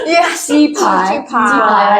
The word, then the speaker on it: 雞排: Is it the right pronunciation? Yes. Chi pie.